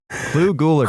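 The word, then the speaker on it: Clu Gulager: Clue Guliger.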